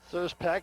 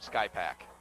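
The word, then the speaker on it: Skrzypak: Is that how we pronounce it? S-K-R-Z-Y-P-A-K. Oh, there's got to be P-C-A-K. Oh, it's probably one of those Polish names where half of those letters are silent. You pronounce it Smith. Call him Sky Pack.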